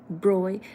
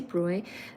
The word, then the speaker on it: Broglie: So this is spelled as Broglie, Broglie, but really it's Louis de Broglie.